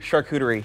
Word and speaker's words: charcuterie: jokes too so but it's it's sharp cuter e charcuterie yeah that was the best one always save the best